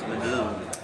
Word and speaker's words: Medin: I think the correct pronunciation is Medin, Okay. which is the sort of leading a Swedish, it's the fancy neighborhood.